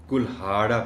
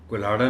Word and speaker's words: کلہاڑا: اچانک اس کا کلہاڑا، یہ آپ نے کلہاڑا پڑھنا ہے، کلہاڑا نہیں پڑھ سکتے اس کو آپ۔ کلہاڑا